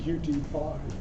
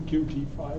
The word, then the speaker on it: Qt: I'm going to talk a little bit about my experience with porting some applications for using QT5. First of all, a little brief oversight. Qt is a full development framework, or sometimes called